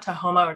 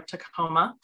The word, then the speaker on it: Tahoma: previous name which is has some some different pronunciations to quoma to homo tacocoma and the name means the